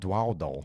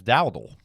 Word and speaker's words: Dow: have a touch say it's not dwo it's Dow yeah I say DW